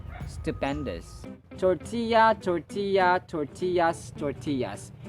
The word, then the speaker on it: tortillas: who loves to eat tortillas stupendous tortilla tortilla tortillas tortillas this word is a Spanish origin that's why two LS are equivalent of y yeah yeah for example